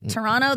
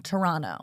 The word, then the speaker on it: Toronto: I feel like Toronto. They're like, is it to I always say it wrong. Toronto, not Toronto. It's to I think you can call it whatever you want to.